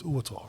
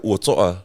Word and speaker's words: Uatoa: You had to sort of, the correct pronunciation of your name is Uatoa, right? Yeah, Uatoa.